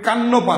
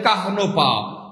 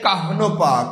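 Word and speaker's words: কাহ্নপা: আচ্ছা প্রিয় ভাই বোন আমার চর্যাপতির আদি কবিকে কাহনপা কুকুরিপা এটার উচ্চারণ কিন্তু হবে কান্নপা না অনেকেই কান্নপা বলেন এটা উচ্চারণ হবে কাহনপা উচ্চারণ হবে কাহনপা কাহনপা প্রথমে হ এরপরে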